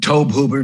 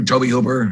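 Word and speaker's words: Tobe Hooper: that was good uh tobe hoover toby hoover already you know the pronunciation's always up in the air but toby hoover right directed it that mini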